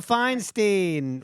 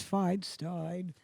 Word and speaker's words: Feinstein: Fine is wine.